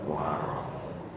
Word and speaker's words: Muharram: Muharram. Muharram Pak. Bukan Muharram. Ro itu enggak ada pakai fathah bacanya ro. Jadi muharram ya.